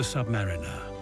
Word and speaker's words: Submariner: Ever new light on our world the Submariner and that's how you pronounce the Submariner next we will explore what